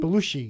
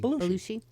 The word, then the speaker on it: Belushi: Belushi. Belushi. I like the way you say it, Belushi. Belushi. Like the whale.